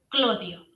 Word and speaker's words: Clodio: familia Claudia, eh, y se va a cambiar el nombre, la manera de pronunciar su nombre a una manera popular que es Clodio y por eso lo conocemos como Clodio.